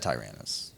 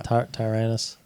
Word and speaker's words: Tyrannus: time we've heard that in Tyrannus or Tyrannus? He said Tyrannus. I think. Darth Tyrannus. Yeah. Tyrannus. Wait, Tyrannus, phonetically. it's Look. Oh, Django says Tyrannus.